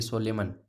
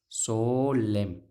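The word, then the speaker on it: solemn: क्या है, सोलेम, एन को नहीं पढ़ेंगे, ऐसे नहीं कि सोलेमन ना, सोलेम, सोलेम, ओ जो है लॉन्ग नहीं है इसमें, सोलेम।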